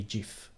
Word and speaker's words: GIF: said jeff i think all italian people say jif yeah because that's how you would pronounce it in italian so oh i think